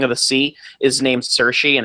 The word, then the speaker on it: Saoirse: But they did it specifically, and I can never pronounce her name properly. Saoirse Ronan. Saoirse Ronan.